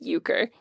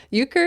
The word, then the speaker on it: euchre: Yes, let's end with euchre. So, listeners, euchre is spelled E-U-C-H-R-E.